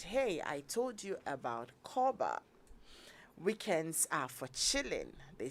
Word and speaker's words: Korba: In addition, you get a free insurance cover while you make your payments with Koba.